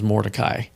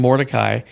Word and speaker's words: Mordecai: there was a certain Jew whose name was Mordecai, the son of Jair, the son of Shimei,